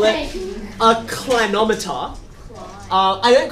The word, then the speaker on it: clinometer: i call it a clinometer uh i don't call it a clinometer because it comes from the same word where we get inclined right where something is